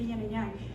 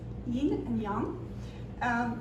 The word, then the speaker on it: Yīn and Yáng: The next poem, the Mandarin pronunciation, a lot of people say yin and yang. The Mandarin pronunciation is yin and yang.